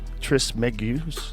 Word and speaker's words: Trismegistus: Though attributed to the legendary Hellenistic figure Hermes Trismegistus.